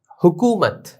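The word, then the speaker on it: حکومت: হুকুমত, হে, calf, wow পেশ, কু, মিম, তা জবর মত, হুকুমত।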